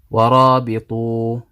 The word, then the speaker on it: ورابطوا: Okay, so you don't read this alif, you don't consider it as though it's not there.